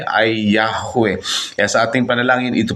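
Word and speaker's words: Yahweh: may tam pagbigkas so ito ay ang tamang pagbigkas ng pangalan ng dakilang may lika na yahwe Ay yahwe kaya sa ating panalangin Ito po yung gagamitin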